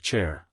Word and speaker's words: Char: parents call me chair you spell it CH R but pronounce it like chair like you sit in that's better Hank